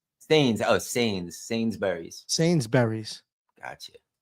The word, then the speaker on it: Sainsbury's: Oh, Sainsbury's.